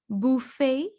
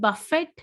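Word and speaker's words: buffet: अब last word आता है, मैं आपको बता देती हूँ, दोनों ठीक है. बुफे. बुफे और बफे. बफे. बट बफेट ना बोल देना, टी बिल्कुल साइलेंट है. बुफे या बफे. बुफे या बफे सब ठीक है.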